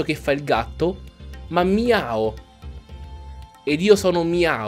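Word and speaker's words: Meowth: è bella mia o il pokémon si chiama mia o e non meo diciamo che da una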